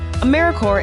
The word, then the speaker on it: AmeriCorps: with a silent piece so think of Apple core or core of the earth now that we have that clear what exactly is AmeriCorps anyways AmeriCorps is simply